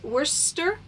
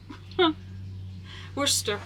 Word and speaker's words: Worcester: They are by Royal, I'm going to mispronounce it, okay, Worcester. Worcester, we're going to say Royal Worcester.